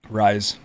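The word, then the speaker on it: Rhys: How do you pronounce this first word in this name, Tanner? Rise. Okay. So the reason I asked, it's not because I'm illiterate, which is possible. It's because it's spelled R-H-Y-S.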